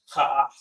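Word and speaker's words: kaf: Kha means wall, and it's pronounced ka'af.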